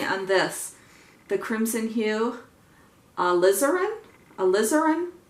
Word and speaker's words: alizarin: this the crimson hue alizarin alizarin somebody said like lizard put the emphasis on the Liz part so alizarin and then